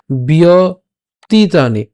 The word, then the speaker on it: ব্যতীতানি: তো প্রথম থেকে একটু খেয়াল করি উচ্চারণটা কেমন হচ্ছে, বহু নিমে বিয়তীতানি, এই জায়গাটা আমরা একসাথে উচ্চারণ করবো, বিয়তীতানি, বহু নিমে বিয়তীতানি জন্মানি তব